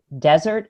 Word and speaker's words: desert: word in English, is which syllable carries the stress. Which syllable should I emphasize? Is it desert or dessert?